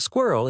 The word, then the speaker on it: squirrel: could be included but squirrel is intended to be pronounced as two syllables according to most dictionaries Empire is a 1965